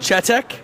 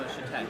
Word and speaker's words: Chetek: Chetek? No, Shatek.